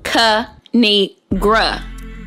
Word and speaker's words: Kinigra: me tell y'all a thing of three it's pronounced ca need gra now subscribe oh i cracked myself up thanks